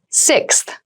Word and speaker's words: sixth: fifth floor don't you sixth sixth sixth so sixth refers to the number six of something this is a really good word to practice some pronunciation slow down that sixth that middle part there the sixth book from